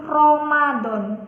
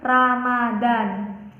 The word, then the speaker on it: Ramadan: kata lafal Rohmat kemudian kata Ramadhan pengucapan kata yang salah itu Romadhon nah Jangkang pelafalan yang benar ini yaitu Ramadan kemudian di lafal yang